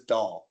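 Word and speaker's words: Dáil: By the way, I'm Dale, but this is doll. It's pronounced doll.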